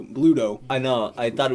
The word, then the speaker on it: Bluto: Not Pluto. Bluto.